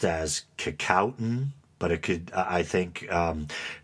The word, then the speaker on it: Kecoughtan: But when I was trying to research it and find the pronunciation, they said one way you're never supposed to say it is Kickoffton.